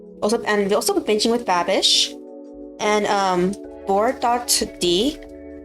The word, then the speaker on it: board.d: Also binging with Babish and board.d. It's just pronounced as board, but that's how it's stylized.